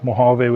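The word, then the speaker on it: Mojave: The J is like the word jalapeno. You don't say the physical J, it's more of an H sound.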